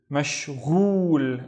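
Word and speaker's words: مشغول: Mashghul. And mashghul means busy. Mashghul. Next one. Let's split that into syllables.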